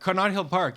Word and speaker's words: Connaught Hill Park: Connaught Hill Park? Is that how you pronounce it? Yeah, it's better. Connaught Hill Park.